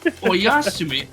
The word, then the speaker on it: Oyasumi: Oyasumi. Okay, that's how you pronounce that.